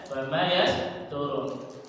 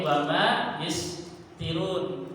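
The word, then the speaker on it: وما يسطرون: Tapi orang karena orang Arab Quraisy paham jadi pasti bacanya wama yasturun. Enggak mungkin wama ytirun atau yistirauna atau istiri.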